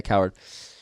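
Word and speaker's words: Cowherd: How do you pronounce his last name? Coward. Yeah, Coward.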